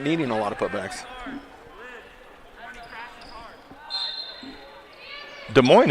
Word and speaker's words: Des Moines: a lot of putbacks des moines is a tricky pronunciation too i'm pretty proud of that one well when i'm being a jerk face i say des moines but i understand that that's wrong all right grand view